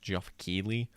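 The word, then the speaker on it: Geoff Keighley: so i don't know how to pronounce his name it's like g-e-o-g-f jeff keely uh is hosting the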